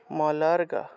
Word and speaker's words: মলর্গ: শব্দাত্মিকা সুবি মলর্গ সুবি মলর্গ মলর্গ মলর্গ সুবি মলর্গ লর্গ এই অর্থাৎ ল তারপরে র তারপরে গ মলর্গ র তারপরে গ একসাথে উচ্চারণ মলর্গ यजु यजु यजु शाम